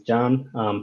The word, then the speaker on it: Can: everyone my name is John spelled can pronounce John Turkish name C is Jack I work for 55